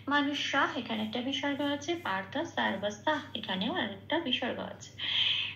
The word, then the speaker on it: পার্থ: থয় রেপ আছে, পয় শূন্য রায় হসন্ত দিয়ে রেপটা প্রতিস্থাপিত হয়ে যাবে আর পয় আকারের সাথে জুড়ে উচ্চারিত হবে পার্থ, ওটা পূর্ণরূপে উচ্চারিত হবে পার্থ।